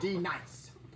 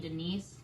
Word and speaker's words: D-Nice: Now, D nice. Do you mean Denise?